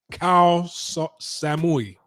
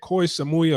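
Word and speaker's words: Koh Samui: at a hospital in cow Samui I believe that's how you say it koi Samui or cow somebody okay that's the island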